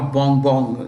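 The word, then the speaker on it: Bongbong: That's his what we say nickname, or Bong Bong. You can pronounce it as Ferdinand Bong Bong Marcos Jr.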